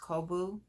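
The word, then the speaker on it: Cobo: lion brand i think it's called kobu um c-o-b-o-o i think is pronounced kobu and it is 50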